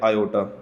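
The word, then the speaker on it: iota: मैं लिख रहा हूं ये सिंपल आई नहीं इसको हम प्रोनाउंस करते हैं आयो ठीक है तो अब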